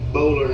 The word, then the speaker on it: Boulware: that my friend Barrett Bowler has. That's who he works for. Barrett Bowler. Yeah, Junior. Yeah, spell it. It's Boulware is how it looks.